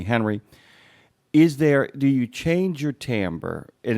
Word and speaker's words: timbre: Also, I just want to acknowledge that you pronounced timbre correctly, and that is a real audiobook word.